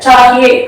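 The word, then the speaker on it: चाहिए: சாஹி எந்த இடத்துல லாங்கா இருக்கோ அந்த இடத்துல உச்சரிப்பை குறைக்க கூடாது. இந்த இடத்துல சாஹியே, அது எழுத்துக்காட்டுற உச்சரிப்பை நம்ம உச்சரிக்கணும்.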